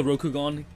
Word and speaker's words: Rokugan: I'm gonna call it the Rokugan, because it rhymes with the Sharingan, and I think it just makes sense, especially in the context of this video.